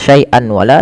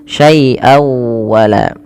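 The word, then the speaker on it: شَيْئًا وَلَا: tanwin ketemu dengan wau cara membacanya masukkan suara tanwinnya pada lafal syaian kepada huruf wau dengan kita kenal dengan istilah idgham memasukkan bewunah maka syai wa masuk ya bukan hanya sekedar syaian wala tapi masuk saai wala nah langkah kedua digunah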